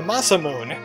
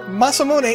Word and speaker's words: Masamune: master sent that Masamune the Massa moon wait muscle Masamune is the right way to pronounce that I am having a